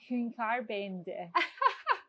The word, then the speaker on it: Hünkâr beğendi: Hünkâr, beğendi.